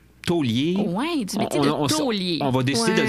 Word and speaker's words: taulier: Maintenant, on parle de taulier. Puis les 2 autres, on vous les garde en surprise. C'est des pour plus surprises. tard. Alors, aujourd'hui, tu nous parles de taulier. Oui, du métier de taulier.